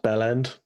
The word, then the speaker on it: bell end: It's pronounced bell end, so it's all one word as if it's a single syllable.